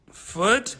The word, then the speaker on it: foot: Now, my friend, these are not the same, they don't have the same pronunciation, okay? Mostly because of the consonant sound here. This is a T, foot. Look at this, foot. And the vowel sound is different too, foot. And here I have food. You see the difference? Foot, food. So yeah, they are very different, okay?